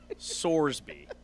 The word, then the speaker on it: Sorsby: Brendan Sorsby rhymes with Roarsby with an S. Sorsby is his name.